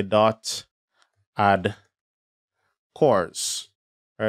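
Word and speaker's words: CORS: and cores will be needed to or a course policy will need to be enabled to facilitate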